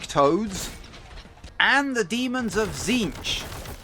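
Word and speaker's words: Tzeentch: and the Demons of zinch at least I think that's how it's pronounced I'm pretty sure that's how it's pronounced the t is silent I think anyway you can also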